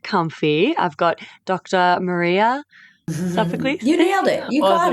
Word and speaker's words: Sophocles: Maria Sophocles.